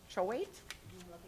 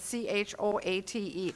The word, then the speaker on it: Choate: We have one donation, a very generous donation from, I don't know how to pronounce that, Choate? It's C-H-O-A-T-E.